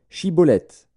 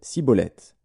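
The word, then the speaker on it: Schibboleth: disait alors et bien dis chibolette et il disait siibolette car il ne pouvait pas bien prononcer sur quoi les hommes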